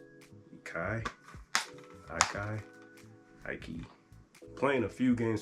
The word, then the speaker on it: Iki: It's spelled I-K-I. Ikai?